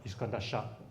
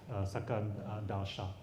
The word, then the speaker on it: Iskandar Shah: Okay, except Iskandar Shah, Chinese pronounce it as Sakandar Shah.